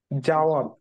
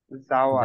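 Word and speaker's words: জাওয়াদ: Date, আর এটা কি আমি এটা, করবো নাকি অন- আচ্ছা আচ্ছা করুন, আপনার নামটার প্রোনাউন্সিয়েশন কি কি বলেন এটাকে আপনি? জাওয়াত। জাওয়াত, জাওয়াত।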